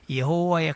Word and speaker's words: 여호와: 여호와의 가장 좋은 발음은 야훼입니다. 그러나 여호와도 틀리지 않다 말씀드렸습니다. 여러분, 이름은 그가 어떤 존재인지를 나타냅니다.